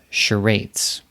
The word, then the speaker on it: charades: charades yeah it's called charades how would you spell that right it's kind of difficult cuz sounds like SH but it's actually CH a are a DES